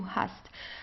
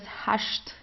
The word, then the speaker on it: hast: so here you see you have an st at the end of the word so you pronounce it the normal way Do Hast uh in southern Germany we have um we have some dialects where you would pronounce it as hasht okay like in the schwaben schwabenland as we call this region so you would say do has um but this is just a dialect okay so like the